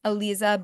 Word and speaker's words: Aleeza: go to my name Alisa it's Alisa spelled with two e a e e zaa and you